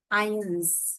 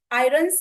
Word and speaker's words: irons: इसका प्रोनाउंसिएशन ऐसा होता है, आई, आई, और उन्स, EARNS। आयंस, right, yes. आयरन्स नहीं बोलते।